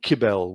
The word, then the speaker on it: Cybele: I say Cybele. In Greek, I think she was called Kybele, was a better pronunciation of her name.